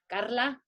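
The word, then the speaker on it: Karlha: trying to own the way that my name is spelled it's k-a-r-l-h-a carla and so con corazon's with a k i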